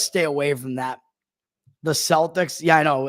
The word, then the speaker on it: Celtic: So I don't know and they pronounce it the right way, Celtic.